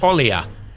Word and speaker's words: Olija: Up next, expected to come out January 28th we have Olija (pronounced o – lee – ya) and while it’s published